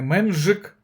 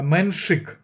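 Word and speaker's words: Menšík: Не Менжик, а Меншик. Саме Хуберт Хуркач. Я сказав, що досвідченіший, але я вірю в талант Меншика.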